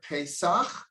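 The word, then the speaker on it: פסח: the the arizo says don't read the word pesach he put like a hyphen between the two syllables he said read it pay the mouth speaks the mouth speaks so the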